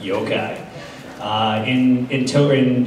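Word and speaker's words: yokai: cool mystical magical creatures the yukai I probably mispronounced yoai yo-kai uh in in to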